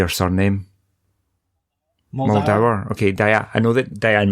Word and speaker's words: Muldaur: Muldaur.